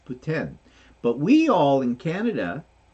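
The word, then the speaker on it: poutine: Canadian and that's how they say it it's puten but we all in Canada and in the states we still will refer to it as putine but it's not it's Putin um so there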